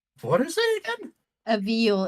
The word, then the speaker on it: viol: A viol. It's like a fat old violin. Yeah. So as your viola, is that not how it's pronounced? I played it. No, just viol. V-I-O-L. Sorry. V-I-O-L.